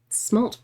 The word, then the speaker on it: smalt: Smalt blue. Let's see. Oh, weirdly that does work. Interesting. Literally the best Warhammer faction. How do you say that? Siege? No, smalt. S-M-A-L-T. Smalt, not smut blue.